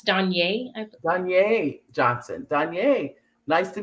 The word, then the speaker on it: DeJonaé: Danya, that's Danye.